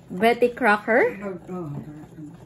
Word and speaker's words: Betty Crocker: so how do you pronounce this one Betty Betty Crockett Betty how do you pronounce this one Tita Betty Crocker comment down below if we did like a